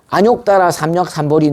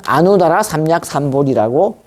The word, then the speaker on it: 아뇩다라삼먁삼보리: 그러니까 범어 산크리스트어의 원음을 그대로 한문으로 그대로 읽으면 아누다라 삼목 삼막 삼보제 이렇게 읽어야 됩니다. 근데 이거는 금방 범어인 산크리스트어로 읽으니까 안욕따라 삼약삼보리 내지는 아누다라 삼약삼보리라고 읽게 되는 겁니다. 이걸 보리 이렇게 읽습니다. 보제가 아니고 보리.